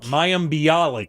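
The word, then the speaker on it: Mayim Bialik: they announced today that is it mayam baylik blalik is that how you pronounce um mayam bialix mayam bialik that's it i always get her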